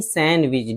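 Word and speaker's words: sandwich: Handsome खूबसूरत सैंडविच सैंडविच नहीं सैंडविच D silent है।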